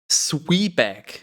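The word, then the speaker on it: Zwieback: So, Sweeback is apparently the pronunciation.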